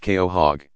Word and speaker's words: quahog: very long time with a Quahog pronounced Keo hog living around and fifty